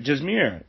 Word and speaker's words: Jazmiera: Paul but today I want to bring on Jumeirah just mirror I pronounced that right right yeah jazz yeah it's